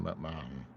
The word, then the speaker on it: McMahon: Something McMahon, yeah. Yeah, it's pronounced Ma with a bit of a man.